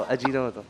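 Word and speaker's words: Ajinomoto: ये तुम्हारी उसमें ही खाने में अजीनोमो अजीनोमोतो अजीनोमोतो सही बोला ना ये तुम्हारा अजीनोमोटोतो कर ना जरा अजीनोमोतो की स्पेलिंग करो।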